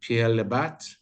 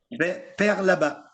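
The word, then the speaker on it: Père Labat: We've got some Pierre Labat, pronounced correct there, Knud? Père là-bas. Pierre Labat. There we go. My French is getting Père, like father, not Pierre, like yeah.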